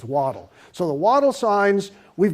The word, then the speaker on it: Waddell: Well, by the way, it is Waddle, like a duck, not Waddell. Gord is a Scotsman, and his proper pronunciation is Waddle.